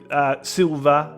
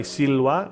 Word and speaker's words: silva: the word uh silva now you could say silva if if you like i think the classical pronunciation is anything that looks like a v is in fact a w sound like the w in english so i'll say siloa in in the classical